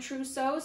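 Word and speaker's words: Trousseau: order to remember these i think truso rhymes with bow and bow is this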